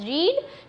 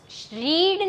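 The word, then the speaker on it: read: उसने नई किताबें पढ़ी है, शी हैज़ रीड new books. रीड नहीं आएगा, ये स्पेलिंग रीड का है लेकिन उसको बोलते हैं रेड।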